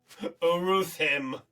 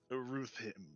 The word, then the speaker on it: Uruthymn: You have forgotten how to pronounce it. Uruthim? I'm literally looking at your DM, by the way. Uruthim. Uruthim. Thank you. Spelt Uruthymn.